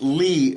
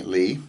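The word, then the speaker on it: לי: yod very small uh it's pronounced Lee by the way Lee okay and it's kind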